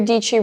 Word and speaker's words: Dietschy: And that's why I say, hey guys, my name is Sara Dietschy, rhymes with peachy, what's up?